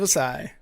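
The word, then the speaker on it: Ossai: up the game-winning field goal it was Joseph acai hey am I saying it right aside yep Joseph assai Joseph assai was the player that ruined the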